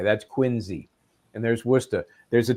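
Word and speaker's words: Quincy: That's quinzy.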